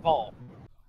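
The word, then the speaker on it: Baal: If they're gonna spell it B-A-A-L, I'll pronounce it. Oh no, that's 100% Ball. If they want to be pronounced Bale, then maybe their name should have been Bale instead of Ball.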